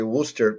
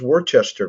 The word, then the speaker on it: Worcester: just think it's fun every time you say Worcester because it's not really spelled like that I know was in the area a few years ago and I cut the saying where's this Worchester place and then people